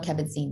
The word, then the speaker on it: Kabat-Zinn: I probably mispronounced his name. No, that's fine. John Kabat-Zinn, yes.